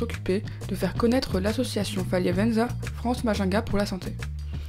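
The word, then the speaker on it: Faliavanja: élèves se sont occupés de faire connaître l'association Faliavenza France Majinga pour la santé.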